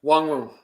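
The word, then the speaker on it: Nwangwu: Wongwu.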